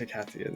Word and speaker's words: Icathian: It is pronounced Icathian, yeah. Ick, ath.